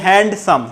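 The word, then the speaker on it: handsome: এটাকে আমরা বলি হ্যান্ডসাম। কি তাই নয় কি? এখানেও বর্ণবিলোপের নীতিটা ইয়ে করব, কার্যকর করব আমরা বলবো হ্যান্ডসাম, ডিটা অনুচ্চারিত থাকবে।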